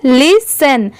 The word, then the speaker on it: listen: तो यहाँ पर सेन की साउंड आएगी, ठीक है, ना कि 10 की। यहाँ पर जो T है वो सेन वाली स की आएगी, ट वाली T की नहीं, इसलिए इसे हम पढ़ेंगे लिसन।